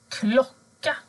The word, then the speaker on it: klocka: Men blir ljudet kort, alltså när du har två konsonanter efter vokalen, då ändras ljudet till å. Till exempel klocka, sommar, hoppa, boll, jobba, soffa.